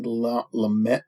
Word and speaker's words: Lumet: Is directed by Sidney Lumet. T is silent.